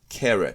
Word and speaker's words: caret: 英語では schwa、V の逆は carrot と言います。